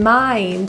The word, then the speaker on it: mind: In mind, the I is pronounced as a diphthong I.